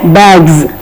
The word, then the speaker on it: bags: words b a g bags yes is there in the spelling but we have to say it as bags shoe shoes Bud buds so